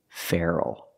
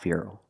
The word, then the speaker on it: feral: So native speakers say feral, not feral.